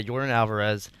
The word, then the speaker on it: Yordan Alvarez: Yeah, Yordan Alvarez.